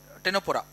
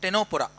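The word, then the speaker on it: Ctenophora: These are okay only tissue level structure is celentra and tenopora. It is pronounced as tenopora. C silent here.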